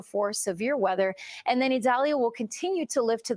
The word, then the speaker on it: Idalia: and the potential for severe weather and then Italia will continue to live to the Northeast and impact the South Philadelphia okay that's how they say it yeah I had to look that up idalia yeah there's another one I'll get to it